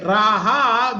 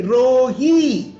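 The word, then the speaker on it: רעי: So when we are going to say my shepherd, जब हम कहते हैं मेरा चरवाहा, we cannot say Raha, we have to say Rohi.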